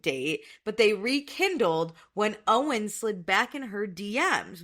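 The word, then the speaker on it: Eoin: It's her boyfriend, Owen, spelled Eon, but pronounced Owen.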